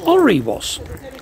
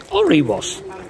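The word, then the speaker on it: Alrewas: It's actually pronounced by the locals Oriwas. Oriwas.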